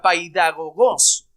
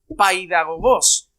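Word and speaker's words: παιδαγωγός: un significado muy bonito la palabra griega se pronunciaría de esta manera paidagogos paydagogos la palabra país es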